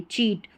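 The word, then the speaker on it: cheat: जैसे यहाँ पर देखिए चीट, तो इसको मैं शीट या कीट नहीं पढ़ रही हूँ क्योंकि ये प्रैक्टिस से हुआ है।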